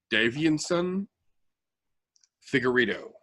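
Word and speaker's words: Deiveson Figueiredo: We were talking about Husier Formiga versus, I believe they pronounce it Davianson Figueiredo, the striper.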